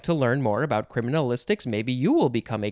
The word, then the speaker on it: criminalistics: minute or so criminalistics you could also just say criminalistics again you can take out that extra syllable it's basically the letter i why would you get rid of the letter i criminalistics no it's criminalistics much better okay noun from 1943